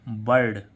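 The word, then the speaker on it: bird: बी आई आर डी तो इसका उच्चरण क्या होगा बर्ड यानी कि आ साउंड आ रहा है बर्ड ऐसे ही इसमें बी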